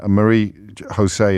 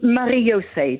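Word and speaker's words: Marie-José: shortly but before that Marie Jose is in claygate in S I probably mispronounced your name then you did yeah how should I have said it it's marose because my parents were Dutch very British yes I'm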